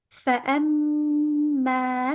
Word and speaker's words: فأما: فأما من ثقلت موازينه فأما فأ. We have a hamza after the fa. Do not say fa. No, we have to hear the hamza loud and clear. فأ فأما.